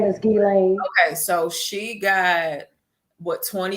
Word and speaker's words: Ghislaine: Epstein thing, and I don't know how to pronounce her name. That's the only reason I mentioned him. But it's Ghislaine. Her name is Ghislaine.